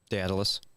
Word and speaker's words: Daedalus: Also, do you know how to pronounce Icarus' dad's name? Daedalus.